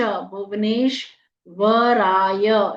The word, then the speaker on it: भुवनेश्वराय: करतल कर पृष्ठाभ्याम नमः भुवनेश्वराय भ में छोटे ऊ की मात्रा व पूरा न में ए की मात्रा भुवने आधा श भुवनेश वराय य पूरा ओम भुवनेश्वराय कर तल पूरे-पूरे बोलने हैं।